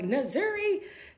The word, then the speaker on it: Nzuri: You know, most of the time when I hear them say it, they don't pronounce it correctly because my name is Nzuri, but it's Nzuri, right? So they're like, Nzuri, now Nzuri.